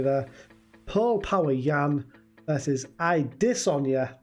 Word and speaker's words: Adesanya: paul power yan versus i dis on ya that is how you pronounce his name i don't see jean